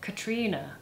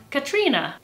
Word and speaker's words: Catriona: This Catherine variation used through Ireland and Scotland is pronounced Katrina. Katrina.